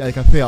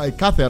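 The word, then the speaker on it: Alcácer: und es wird tatsächlich Alcacer ausgesprochen. Das C ist nicht das Problem. Eigentlich müsste es wegen dem Akzent sogar Alcacer ausgesprochen werden. Aber, also die Betonung auf dem A.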